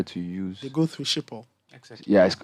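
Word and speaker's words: Schiphol: they still prefer to use they go through shippo yeah it's how it's pronounced it was so difficult for other people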